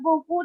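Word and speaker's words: beaucoup: लेकिन इसको बोलते हैं बोकू, तो ऐसा करके लगता है कि इतना ज्यादा क्यों वर्ड है, इतना ज्यादा क्यों वर्ड है.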